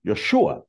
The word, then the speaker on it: Yeshua: father named him Joshua Joshua in Hebrew is pronounced Yeshua which means actually means Jesus so if you are in in that part of the world and you hear Yeshua Yeshua is actually calling